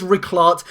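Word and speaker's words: Rijkaard: then we're going to be looking at is rart that is how you pronounce his name it did give me a bit of trouble pronouncing it but it is rickart he does have over 200 appearances for aax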